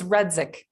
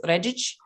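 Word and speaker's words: Redzic: And if you do that pronunciation, it's Redic, but we usually go with Redzik because it's just easier for people from the Midwest.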